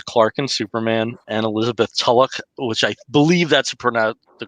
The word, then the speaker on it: Tulloch: We have Tyler Hoechlin in the lead as Clark and Superman, and Elizabeth Tulloch, which I believe that's the correct pronunciation, as Lois.